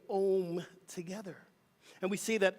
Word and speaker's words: Om: often it's Alm and that's how we really pronounce it as aom the a-u-m which we say om together and we see that every Sunday here